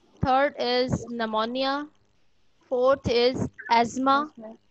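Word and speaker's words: asthma: Is pneumonia, fourth is एस्मा। इसको आपने एस्मा पढ़ना है, एस्थमा नहीं पढ़ना, ठीक है?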